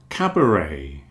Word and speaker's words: cabaret: lot of cases, but one thing we all agree on is we don't pronounce the T.